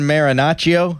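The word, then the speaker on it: Marinaccio: Ron Marinacio.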